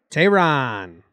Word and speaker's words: Teheran: And Jim, how do you pronounce Teheran? Tehran.